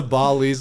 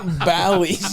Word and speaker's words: Bally's: pronounced it Bali because That was an Indian guy. we went to Timbuktu's with Deep. Go to the Hard Rock. Bally's, you fucking idiot.